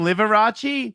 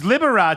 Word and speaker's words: Liberace: I call him Liverace You do. because I didn't go to school yeah. Is it pronounced Right. Liberace? No. It's Liberace.